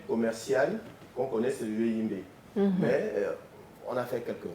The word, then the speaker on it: yohimbe: La plante, comme vous voyez, c'est Posilistalia yoimbe. difficile à prononcer. Oui, voyez, je fais des Posinistalia, yoimbe. Le yoimbe, tout simplement. Moi, j'allais dire Jorimbe.